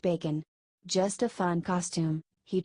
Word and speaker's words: Bacon: It's actually Mr. Bacon, pronounced Bacon.